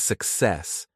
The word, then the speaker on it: success: The stress is on the second syllable.